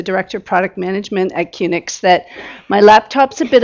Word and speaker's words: QNX: And first out will be Linda Campbell from QNX, or QNX, how you pronounce it? QNX, okay.